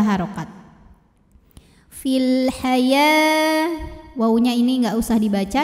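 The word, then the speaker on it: حياة: Cara bacanya dipanjangkan ya-nya 2 harokat. Fil haya, wawunya ini nggak usah dibaca ya, jadi bukan hayau, bukan ya, bukan haya jadi lebih panjang juga tidak ya, ya-nya tetap 2 saja.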